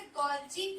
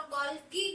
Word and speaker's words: Golgi: आप इसे गोल्जी भी कह सकते हैं, बहुत लोग गोल्गी भी कहते हैं, तो प्रोनाउंसिएशन दोनों ही ठीक है।